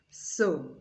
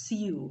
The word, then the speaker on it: sew: They are both pronounced so. I hear some people pronounce this as sew, but no, it is so.